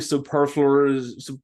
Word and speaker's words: superfluous: death and it's especially superfluous Superfluous that's how you say it my beard just